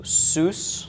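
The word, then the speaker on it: סוס: at the end okay so soos is the pronunciation of this soos is a horse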